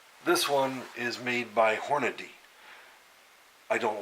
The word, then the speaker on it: Hornady: most anything that Hornady makes and it is Hornady nock Hornaday it spelled Horm a dy there is no da y and Hornady so effort people mispronounce it constantly Hornaday Horner